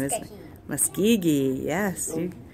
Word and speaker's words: Muskogee: Muskogee, yes. Muskogee.